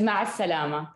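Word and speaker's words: مع السلامة: Is ma'a salama.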